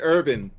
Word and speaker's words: Erwin: pronounce it urban. Urban. My name is Urban. Because it's German.